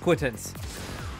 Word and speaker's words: acquittance: to say multiple syllables it's just quittance two syllables not three or four or however many I was thinking it